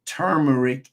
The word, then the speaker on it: turmeric: vados which isn't correct just like you have people that refer to termeric as turmeric uh turmeric is correct so you'll find that